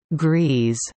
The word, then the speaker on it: Gries: The Griesdijk complex, also known as Grise, pronounced Grease, contains 16 stories of